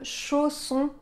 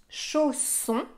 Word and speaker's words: chausson: son encore une fois ici on a les lettres S qui sont entre deux voyelles dans ce cas-là on va avoir un double S pour avoir le son ce dans le mot qu'on